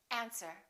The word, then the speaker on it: answer: island debris all right one more silent w answer don't say answer say answer these are the most